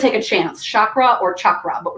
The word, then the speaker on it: chakra: hard ch and actually in sanskrit chakra is really spelled c-a-k-r-a but the c is always ch sound and then we just added the h so that people didn't say kakra because they said well